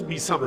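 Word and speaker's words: میثم: کہا میسم، البتہ صحیح تلفظ میسم ہے، میسم تمار، میسم ہوں۔ جناب ام سلمہ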